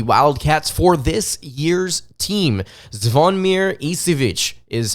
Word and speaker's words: Zvonimir Ivisic: to the Kentucky Wildcats for this year's team zavonmir isivic is how you pronounce his name for those of you out